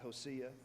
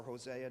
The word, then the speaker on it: Hosea: I want to pause right there and go to this Old Testament prophet Hosea, or Hosea, depending upon how you choose to pronounce it.